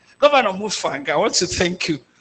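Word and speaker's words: Mutfwang: So let us hope that governors when I I said Mfang I was an undergraduate in Amad University and I know a cousin of his by that name that's how I know to pronounce it Mfang. Governor Mufang, I want to thank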